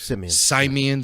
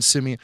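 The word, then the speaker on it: Simien: And the creator of that is a guy named Justin Simeon. I think that's how you say his name. I didn't hear Kathleen say it. Yeah, it was Simeon. Simeon.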